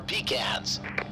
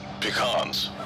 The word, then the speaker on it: pecans: of 31,000 feet, and our in-flight snacks today are pecans. Your other pilot here, it's actually pronounced pecans. It's pecans. I think you mean pecans. I mean pecans, like a pecan pie. Pecan pie. Can. Con.